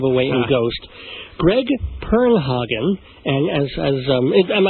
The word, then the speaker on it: Purnhagen: bird kind of a way in ghost Greg per hogen and as as um am I corre correctly because it rhymes with that's very good thank you hog